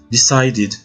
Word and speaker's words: decided: ajoute le prétérit le peu d va se prononcer id le verbe c'est decide le prétérit decided wang qui veut dire vouloir aux prétérite va